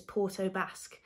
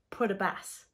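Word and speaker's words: Port aux Basques: because there's a place if you wrote it down we'd probably pronounce it as Porto Basque but apparently it's put a bass so that's for you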